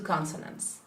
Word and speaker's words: consonants: But if I say the whole word, it is. Consonants. And this A changes to. Schwa.